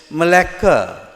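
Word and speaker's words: Malacca: So he ran to another place called Malaa. Are you familiar with Malaa or what uh we pronounce it in English as Malaca?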